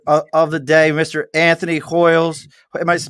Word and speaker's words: Hoyes: death metal singer of the day mr anthony hoyles might pronounce his hois how do you pronounce it anthony yeah hoy's hold on he ain't no